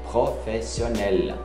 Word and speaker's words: professionnel: E Vincent responde, il n'est pas footballeur professionnel, ele não é jogador profissional, professionnel, até o L lá se pronuncia, il n'est pas, o pai é a negativa.